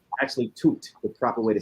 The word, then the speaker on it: Tut: You know, it's actually Tut, the proper way to say it.